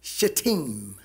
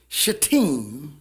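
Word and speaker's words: Shittim: numbers 25 and israel abode in it's actually pronounced shatim shateem and the people began to commit whoredoms with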